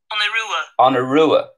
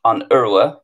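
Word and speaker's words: An Iorua: Oh, it's on Urua. So let me just see. On Urua. That's the Connacht pronunciation. On Urua.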